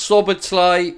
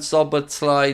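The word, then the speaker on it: Szoboszlai: it love the Channel please pronounce sober sleigh rather than sober Sly just a friendly tip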